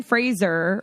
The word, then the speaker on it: Fraser: But Brendan Fraser, which I learned is how you say his last name.